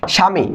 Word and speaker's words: স্বামী: যেটা আগে শুরুতে বললাম দন্তস্য যদি নিচে ব থাকে শব্দে প্রথমে ব থাকলে সেটা উচ্চারণ হয় বফা থাকলে হয় না দেখো আমি বফল উচ্চারণ করিনি এরপর ম আছে আছে